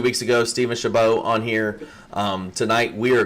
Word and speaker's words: Chabot: Is it Shabbat? Steven, you say it's Chabot. The T is silent.